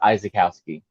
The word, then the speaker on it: Izykowski: very close but my my last name is actually pronounced izakowski no yeah azkowski